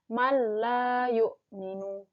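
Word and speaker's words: مَا لَا يُؤْمِنُ: Jadi bacanya adalah nun matinya dihilangkan atau melebur ke dalam huruf la. Mala yu'minu gitu. Dan tanpa dengung, jadi langsung aja. Mala yu'minu. Mala yu'minu. Selain itu juga ditahan dulu selama 2 harokat.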